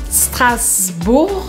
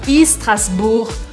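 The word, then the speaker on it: Strasbourg: RS para vocês treinarem lembrando também que o u a gente faz som de u strasb e eu não pronuncio o g no final e tem mais um detalhe eu não faço nenhum som antes do S eu começo o som pelo S então eu não falo strasburg strasburg strasburg eu fasb se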